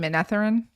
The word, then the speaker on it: Manetheren: Maybe that's the Manetheren accent. For You mean Menetherin?